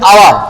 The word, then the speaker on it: hour: কিন্তু এটা হাওয়ার হবে না, কি হবে? এই সারে দিলে হবে আওয়ার।